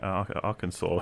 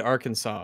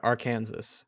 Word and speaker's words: Arkansas: if someone said well if someone did look at arkansas and they said are kansas then i'd be like i don't blame you for saying that it's literally a state with an ar in front of it well that's the